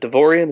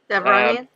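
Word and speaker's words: Devaronian: I was thinking, was it Devorian? Is that how you say it? Devronian?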